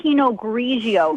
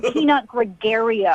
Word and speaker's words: Pinot Grigio: You don't even know how to say Pinot Grigio. It's not Pinot Gregario.